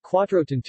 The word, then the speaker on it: Quattrocento: to as the Quattrocento Italian pronunciation Quattro tan - from the Italian for the number 400 in turn from Villa Quattrocento